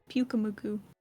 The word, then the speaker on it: Pyukumuku: How do you pronounce that shit? Pyukumuku. Pyukumuku.